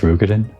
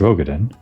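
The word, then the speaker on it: Roegadyn: The Ary Shinobi and the Rugadin samurai. Then you will be pleased to know that they have both come to Kugani. Wait, that's how you pronounce Rugadin? I thought it was Roden.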